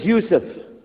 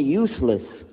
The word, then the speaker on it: Yusuf: we'll work on itah my name is Yousef can you say Yousef you say Yousef you're very good I wish you teach my wife she keeps mispronouncing it she calls me useless alhamdulillah now how many